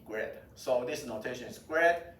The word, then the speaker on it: grad: Usually we call this, we pronounce this notation as grade. G-R-A-D, grade.